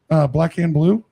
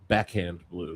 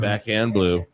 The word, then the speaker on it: Backhand Blue: So this weekend, Black Hand Blue. Did I say it right? Backhand Blue. Damn it, I was close. Yeah. So it's not Black Hand Blue. It's Backhand Blue. Backhand Blue.